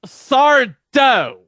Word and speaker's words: Sardo: It's Sardo. No Mr. Accent on the dough.